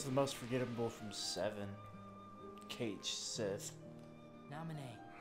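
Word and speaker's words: Cait Sith: Cage Sith. Nominee. Or his the real way you pronounce it, catchy.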